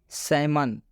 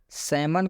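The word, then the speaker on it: salmon: एल आया है, लेकिन इस एल का उच्चारण नहीं किया जा रहा है, क्योंकि रूल में बताया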